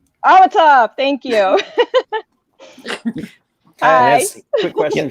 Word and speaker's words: Amitaf: How to pronounce it again? Amitaf. Amitaf, thank you.